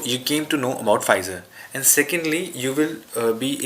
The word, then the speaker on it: Pfizer: this is this uh this is pronounced as pfizer not puffizer or fizzer it's pronounced as pfizer and let me tell